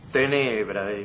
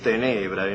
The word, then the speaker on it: tenebrae: Y la encuentra en Catulo, tenebrae. Por la métrica usted ve que ahí contó esa sílaba como larga, con lo que equivaldría hoy a decir tenebrae, no tenebrae.